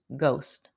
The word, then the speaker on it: ghost: The word ghost has an unusual spelling. It's Ghost, but it's pronounced ghost.